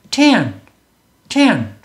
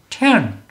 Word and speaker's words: tent: ten, ten, ten, ten, strike, strike 이렇게 소리를 내야 된다는 거예요. 여기를 한글처럼 소리를 내면 tent, tent 요게 2파장이죠. 이렇게 2파장으로 소리를 내면 한글처럼 2음절로 소리를 낸 거고요. 영어 발음은 tent가 아니라 ten,